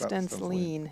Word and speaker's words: Stensline: And the name is a little deceiving. Think of someone leaning. It's Stensline. Yep. Just that little mispronunciation.